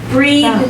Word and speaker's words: breath: Do you notice how breathe and breath Yeah. are different? It's breath. Breathe is the verb. Yeah. And This is a noun. Now. Good. And the pronunciation is different too.